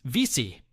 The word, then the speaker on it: WC: Pronounced vici.